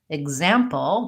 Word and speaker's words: example: the KS sound and on example we have second syllable stress and we have the GZ I think this rule